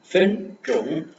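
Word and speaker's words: 分钟: ஃபென் ட்ரோங் ஃபென் ட்ரோங் FEN ஃபென் ZHONG ட்ரோங் ரெண்டுமே flat tone. ஃபென் ட்ரோங் ஃபென் ட்ரோங் ஃபென் ட்ரோங் நம்ம பார்த்துருக்கோம். ZH வரும்போது DCHRJ. ஓகேங்களா? டங்கு மடக்கி நாக்க மடக்கி ப்ரொனவுன்ஸ் பண்ணணும்.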